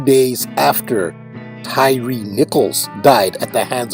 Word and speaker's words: Tyre: That is King Hiram of Tyre. Tyre, that is Tyre, pronounced by Americans TYRE, as in Tyre Nichols, who was beaten and killed in Memphis by the Memphis Police Department on January 7th.